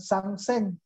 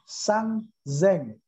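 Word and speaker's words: さんぜん: Kalau 3.000 bukan sangseng, tetapi sangzeng. Ya, 3.000 dibacanya dengan sangzeng.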